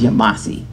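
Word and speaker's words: Yamasee: we called it the yemesi the town was called yamiche and the yemeni indians um the native pronunciation is yamasi and that tribe got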